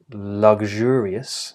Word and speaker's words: luxurious: of two options so option number one you can choose either a voiced where vibration travel over the blade of the tongue or an unvoiced sh consonant sound where air travels over the blade of the tongue so um you have either luxurious if I'm picking the red uh